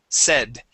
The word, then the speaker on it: said: Okay, instead of a long a saying, the word is a has a short e sound. S said.